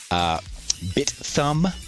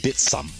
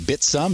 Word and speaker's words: Bithumb: Just like how we normally think of like Bithumb as the name of the exchange, the Korean exchange, where it's actually pronounced Bitsum, like with the hard S.